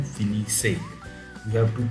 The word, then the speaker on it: finissez: But, you have to pronounce it with nous. Nous finissons and vous finissez.